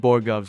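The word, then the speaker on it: borogoves: After he mentioned Borgovs, which, by the way, is the correct pronunciation, I came across a few fun facts worth sharing.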